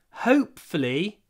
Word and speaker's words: hopefully: difficult to pronounce hopefully firstly H you need to start with your mouth open hope not hope hope H hope don't forget the word hope and then flee flee flee hope flee flee you need to move very quickly from foot to L flee hopefully hopefully it